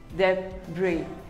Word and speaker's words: debris: is pronounced as debris the bree the s is silent debris we all have